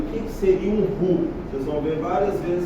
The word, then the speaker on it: roux: O que seria um roux? Vocês vão ver várias vezes essa palavra escrita aí, R-O-U-X, né? Roux, mas a pronúncia correta é roux.